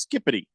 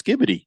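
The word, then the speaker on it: skibidi: It's a slang used by Gen A, and it's pronounced skippity. But it's not. It's skibbity. It's not skippity.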